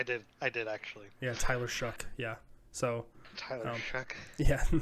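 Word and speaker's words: Shough: I um So, Tyler, did you know his name his name is pronounced Shuck? Did you know that? I did. I did, actually. Yeah. Tyler Shuck.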